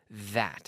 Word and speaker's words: that: That. Estoy sacando la lengua. That.